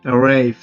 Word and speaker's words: arrived: Como sabemos, arrive tiene una terminación del sonido F. Y F se encuentra en esta parte. Y su pronunciación en su pasado sería T o terminación o sonido T. Arrived.